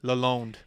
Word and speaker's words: Lalonde: All right, Kenzie, Lalonde. Did I pronounce it right? Yeah. Lalonde? Yeah, so that would be the French way.